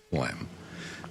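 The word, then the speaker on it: phlegm: That's a great I mean, it's it's not it's spelled but not like it sounds. Spelled funny. It sounds funny. It's spelled flegum.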